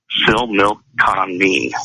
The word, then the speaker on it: Similkameen: It was a 2013 consensus, and it was from Similkameen, and that is Similkameen. And it's pronounced Similkameen, okay?